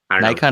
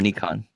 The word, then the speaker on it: Nikon: thank you for using the classic Nikon pronunciation Nikon or Nikon it's Nikon Japanese I don't know I